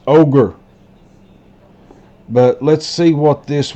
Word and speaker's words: augur: This is pronounced ogre.